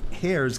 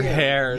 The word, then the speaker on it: heirs: Ardmore's and Jane Ardmore's heirs gave me complete permission to quote from them. And her heirs, not her hairs.